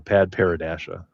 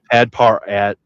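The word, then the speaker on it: Padparadscha: Uh yeah, it's uh pad paradashia or pad pad parad pad parad. You could say it that way too.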